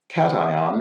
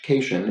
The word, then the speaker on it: cation: pronounced an ion additionally cation which i pronounced cajun is not pronounced like vacation it is simply cation like the animal thanks love the series